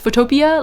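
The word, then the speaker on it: Photopea: footopia I think it's it's pronounced photopia like Utopia but photopia um butopia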